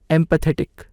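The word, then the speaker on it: empathetic: एम्पैथेटिक, एम्पैथेटिक, इसका सही उच्चारण होता है एम्पैथेटिक, एम्पैथेटिक।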